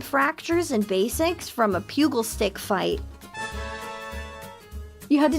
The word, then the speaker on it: pugil: Pugil, not pube sticks.